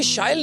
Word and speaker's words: Shyle: So as you just said, it rhymes with style.